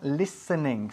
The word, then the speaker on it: listening: Pero la pronunciamos listening, sin la T. La T desaparece.